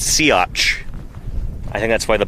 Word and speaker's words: Siats: Uh and the Yeah, the dinosaur's name is pronounced Siats.